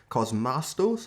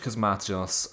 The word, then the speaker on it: Cosmatos: So yeah, this is 1985, directed by George Cosmastos, I believe it's pronounced.